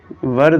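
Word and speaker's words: where: वर they वर they playing football? वेयर भी बोलते हैं कुछ बच्चे। बट वेयर या वर कुछ भी बोलो। इसकी प्रोनाउंसिएशन वेर होती है।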